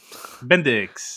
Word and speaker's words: Bendix: Index Peter Bendix. That's who it Index. is. Yeah, I was gonna Uh, say index, and I'm like, it's not an index card, but I know it um, rhymes with index.